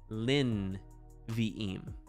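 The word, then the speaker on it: לִנְבִיאִים: a closed syllable so instead of lei ne vie eem it's lin vieim closed and it's silent and that means four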